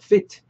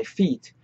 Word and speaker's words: feet: 아까도 말씀드렸지만 fit 너무 짧게 발음은 하지 마시고 왜냐하면 fit 말 그대로 그 몸에 딱 붙다 피트 되다라는 그런 뉘앙스의 동사로 쓰일 수 있으니까 my feet 좀 my feet 길게 발음해 주세요.